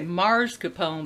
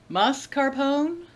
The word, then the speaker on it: mascarpone: do you pronounce it always say marscapone but there's no R in it mascarpone is that right I'm from Missouri we